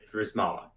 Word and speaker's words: Drzymala: It's so if you just act like the Y and the Z or reverse, it's a lot easier. I pronounce it Drzymala.